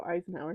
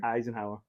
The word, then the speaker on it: Eisenhower: to that how do you say that oh Eisenhower Eisenhower Ike you don't know Ike no I have